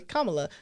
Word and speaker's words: Kamala: yeah yeah yeah and I always say Kamala so like in my head I see K and LA to make sure I say it correctly yeah but yes okay